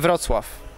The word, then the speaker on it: Wrocław: How do you pronounce? This place? Yeah. Wrocław.